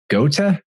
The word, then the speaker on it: Goethe: moved into Wolfgang von Goethe. I think that's how you say his name. Goethe, kind of a strange pronunciation.